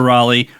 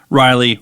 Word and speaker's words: Raleigh: for the most part Walter Raleigh Riley Raleigh he he didn't even know how to spell it so none of us can actually say it wrong technically um when did